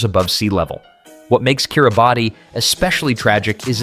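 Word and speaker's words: Kiribati: Kiraabati, pronounced Kier Ubaz, is a remote island nation in the Pacific with many of its islands sitting barely 2 meters above sea level. What makes Kiraabati especially tragic is its cultural richness.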